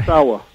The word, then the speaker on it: Ozawa: You'll be performing at the Seiji Ozawa Hall. I think I pronounced the first name right, did I? Ozawa.